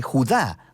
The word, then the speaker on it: Judá: La carta de Judas o más precisamente Judá, de acuerdo con la pronunciación de su nombre tanto en griego como en hebreo.